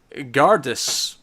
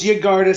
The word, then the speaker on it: Yggardus: Admittedly, my pronunciation here might be complete nonsense, but Gardus. I'm assuming the Y at the start is silent. No, it's Yggardus, because it's a lot like Yggdrasil, which is the world tree from Norse mythology.